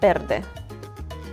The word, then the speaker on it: verde: Amarillo Amarillo - Amarillo Verde Verde Verde - And so, Verde is spelled with a V, but it's kind of sounding like you're saying a B sound.